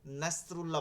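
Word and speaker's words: نصر الله: নাসরুল্লাহ বলা যাবে না, বলতে হবে কি নাসরুল্লাহ, সাদ।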